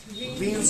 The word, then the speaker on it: Wien: इसका नोटेशन भले ही B से डिनोट किया जा रहा है, लेकिन ये जो वीन है ना, जो वीन मैं बोल रहा हूं वो W से स्पेलिंग शुरू होती है।